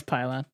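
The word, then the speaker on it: Pilon: and Mama hymore and pylon I hope that's how you say it because that's awesome how's it spelled p-i-l-o-n yeah it's definitely be long then that's pylon you're just the GM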